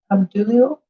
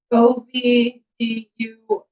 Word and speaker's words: Obdulio: Abdulio? Obdulio. Not Abdul.